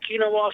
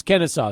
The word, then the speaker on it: Kennesaw: do you know about Keenan wall state it's a Kennesaw State just might are get used to at least pronouncing them right it's Kennesaw State yeah you see what